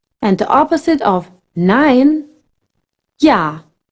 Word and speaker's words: ja: And the opposite of nein, ja. J in German always pronounced like English Y.